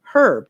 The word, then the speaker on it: herb: lives in a place where herb is pronounced with a hard h. The h isn't silent.